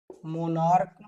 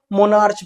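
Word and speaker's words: monarch: इसको मोनार्च पढ़ते हैं। तो बच्चों ये गलत होता है। लास्ट में सीएच का यहां पर जो उच्चारण है वो का के रूप में होता है।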